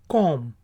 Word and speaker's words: comb: फिर है word COMB, कॉम। बी आखिरी वाला साइलेंट है, उसकी आवाज़ नहीं निकलेगी, कॉम।